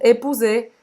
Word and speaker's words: épouser: Presta atenção que o ou em francês tem som de U e esse R do épouser não se pronuncia.